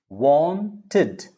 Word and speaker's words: wanted: helped it's not played there are three different ways of pronouncing that wanted id wanted wanted needed will go by id look at all the left column on my left hand side the left column ended decided now i will tell you exactly when it is id whenever you see t and d ending want ends with tur t need ends with d then it will be id wanted all right next